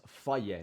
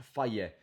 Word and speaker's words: Fage: Fage yogurt, I don't know how you pronounce it. Faye, is the people always correct me. It's Faye, not Fage. Faye yogurt.